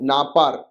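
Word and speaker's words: नापरः: ब्रह्मा सत्यम जगन मिथ्या जीवो ब्रह्मोव नापार। तो नापर, राइट, तो इसको ऐसा प्रोनाउंस करेंगे।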